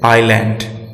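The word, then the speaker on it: island: S silent रहता है जब यह आई और एल के बीच रहता है, जैसे आइलैंड। यहां पे एस साइलेंट है क्योंकि यह आई और एल के बीच मौजूद है।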